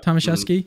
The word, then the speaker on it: Tomaszewski: Tomaszewski.